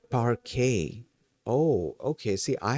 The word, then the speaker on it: parquet: Uh the T the T at the end is silent.